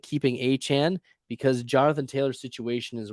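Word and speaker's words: Achane: rolling would you trade a Chan that's how you pronounce it by the way not a chain a Chan for Jonathan Taylor in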